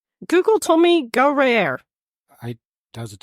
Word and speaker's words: Guerriere: encountered the British frigate HMS Guerriere. I put it in a pronunciation code on that. I hope I said it correctly. Guerriere. Gruyere. That's- Kind of like the cheese. Google told me Guerriere.